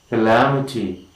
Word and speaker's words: calamity: Third syllable from the end, and we say calamity.